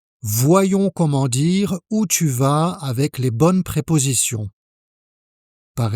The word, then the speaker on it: vas: Tu vas. Tu vas. La même chose, le S final est muet.